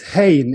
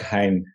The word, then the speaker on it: Hein: a you're dutch no so uh i i've i've learned that there is a difference between dutch and german pronunciation i can write maybe some people like it's more like hein yeah the way it is